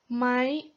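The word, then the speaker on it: ไหม: sentence a question but most people would pronounce it as my so you're more likely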